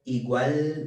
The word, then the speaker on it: igual: me remind you that ls at the end of words or at the end of syllables are always pronounced as u so this word likewise would be you can tell that t e at the end sounds like cheat no igual then there were